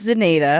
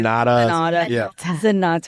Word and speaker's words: Zenata: to remember because well, first of all, the pronunciation is always difficult for people and it is what give us it's zeneda. Zeneda, but I mean a lot of people say zenata zeneda.